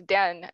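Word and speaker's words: 旦: uh in your life whose name is Dan that's literally how you pronounce it then and all female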